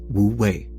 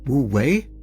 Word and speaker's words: wu wei: So to avoid unnecessary confusion in a confusing subject, I shall pronounce wooi in the Japanese style.